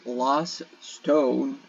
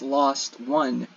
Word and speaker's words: Lost One: We are currently at Lost Stone. No, it's not Lost Stone. It's Lost One, which I keep pronouncing it as Lost Stone because it's got the same spelling when it's abbreviated.